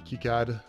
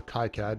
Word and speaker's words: KiCad: does the design on kicad or kai-cad depending on how you pronounce it it all comes